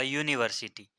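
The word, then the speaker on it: university: हैं this is अ यूनिवर्सिटी तो यहां पर भी यू जो है वह स्वर है वावेल है फिर भी आर्टिकल ए है क्योंकि उच्चार य से होता है और यह क्या है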